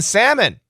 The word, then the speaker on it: salmon: joking uh salmon salmon don't use an L don't say salmon don't